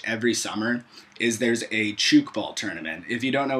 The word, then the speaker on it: Tchoukball: Rini pretty much every summer is there's a Chuke ball tournament if you don't know what chuk ball is like 99.9% of the world just go